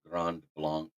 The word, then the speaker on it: Grand Blanc: it gr blank but I like doing the French pronunciation Grand Blanc uh Craig Reynolds is